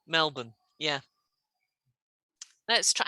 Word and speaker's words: Melbourne: word to spell okay melbourne australia obviously how do we spell that melbourne we have um lots of places in england that has borne and we pronounce it as bun melbourne yeah let's try how